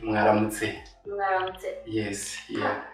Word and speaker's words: mwaramutse: Oh, you know, when it is morning in Rwanda, we say mwaramutse.